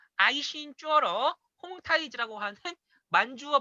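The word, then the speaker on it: 홍타이지: 발표를 이제 할 예정인데 콩 쾌청 들어 보시지요 홈 타이즈는 중급 빠르므로 만주어 발음으로 아이 50주 얼어 홈 타이즈 라고 하는 만주어 발음이 있는 중복 문제 입니다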